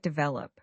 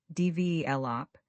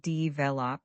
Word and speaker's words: develop: Let's look at develop. The stress is on the second syllable. DV lop. Say it with me. Develop. Not Dvelop, but Dvlop.